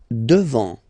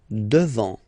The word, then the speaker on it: devant: Devant, final T not pronounced. Devant, devant.